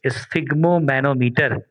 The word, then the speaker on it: sphygmomanometer: The instrument by which we can measure the blood pressure is called, here I can write the spelling, sphygmomanometer. Sphygmomanometer, right? Manometer लिख लिया? स्फिग्मोमैनोमीटर।